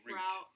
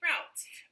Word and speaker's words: route: like that for me this will always and forever be root roots and it is for you too but a lot of americans would say route and i think it